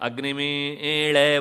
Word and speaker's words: ಅಗ್ನಿಮೀಳೆ: ಉದಾಹರಣೆಗೆ ಅಗ್ನಿಮೀಳೆ ಪುರೋಹಿತಂ ಅಂತಲೇ ಹೇಳಬೇಕು.